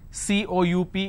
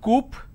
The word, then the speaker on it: coup: is government plurality determination derivatives apartment disagreement dislodge c-o-u-p is cool it's not Coop or cowp it's coup isolation quarantine gesture lot of people